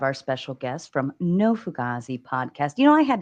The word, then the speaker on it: fugazi: fug gazes so no fugaz is means authentic see I'm not even saying it right you say no fugazi um a lot of people pronounce it like that too okay so I'm I'm